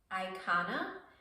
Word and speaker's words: Aykanna: right now that there's an awesome song by ikana which is spelled a y k a n n a